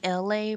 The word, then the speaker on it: Elay: It's me, LA, pronounced like LA like the city.